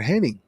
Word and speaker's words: Hennig: Kurt Hennig? Yeah, how do you spell his last name? Henning.